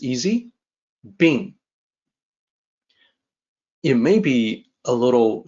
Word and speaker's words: 病: The pronunciation is like this, it's easy. Bing.